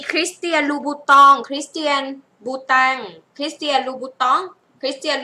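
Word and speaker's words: Christian Louboutin: อยู่ ชั้น ไหน เอ่ย จะ มา หา มี คริสเตียน บูตอง คริสเตียน บูตง คริสเตียน บูตอง คริสเตียน ลูบู คริสเตียน บูตา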